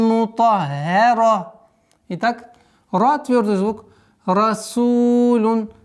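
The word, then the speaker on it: مُطَهَّرَةً: Сухуфан мутаххара. После твердого звука идет ха. Удваиваем, мягкое произношение. А потом переходим на твердое произношение на ра. Мутаххара.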